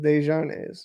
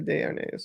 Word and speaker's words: Desharnais: Desharnais, that's good. Desharnais, is it Desharnais or Desharnais? Because I had a buddy of mine, same exact spelling, it was Desharnais, not Desharnais.